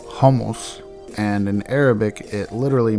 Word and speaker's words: hummus: City used to make hummus is actually pronounced homos and in Arabic it